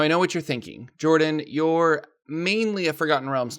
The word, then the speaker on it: Jorphdan: Hello everybody, Jordan here, the PH is silent.